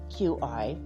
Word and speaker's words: Qi: cheese filled with the Qi I'm not gonna say key cuz that's not how you say it but some people do say key like ki but it's similar to